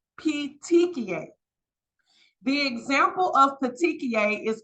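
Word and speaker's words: petechiae: need to recognize these words this word is pronounced P pet TI p p t c h i a e PTI the example of peia is also right here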